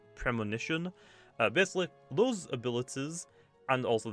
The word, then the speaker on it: Premonition: That's how it's pronounced. I was called Promotion. It's Premonition.